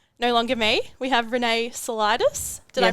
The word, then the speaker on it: Renee Saulitis: our new coach no longer me we have Renee solidus did I pronounce that yes you did yes very good